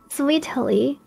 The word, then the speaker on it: Sweetily: A lot of people pronounce it like Lily though, but it's more like Lily. Sweetily or Ariel.